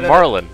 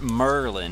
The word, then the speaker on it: Marlin: It's not Merlin, it's Marlin.